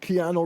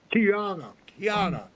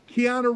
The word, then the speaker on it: Keanu: his name Karina uh how do you say his name Karina Reeves guy played in speak um keano Reeves Keana Keana I never say his name right Tiana Reeves was walking down